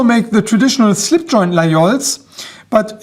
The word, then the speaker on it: Laguiole: They also make the traditional slip joint Laguioles, but this particular model is from their Laguiole Nature series, or if you prefer the French pronunciation, Laguiole Nature.